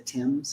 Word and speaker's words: Thames: So it's spelled Thames, but it says it's the Thames.